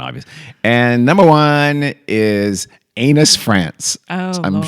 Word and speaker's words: Anus: And number one is Anus, France. Oh, I'm Lord. sure it's pronounced Anu Yeah. or something like that, but still, it is ANUS.